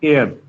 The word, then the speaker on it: heir: इसको बोलते हैं एयर। एयर okay. इसकी जो प्रोनाउंसिएशन है मतलब एयर जैसी होती है ये।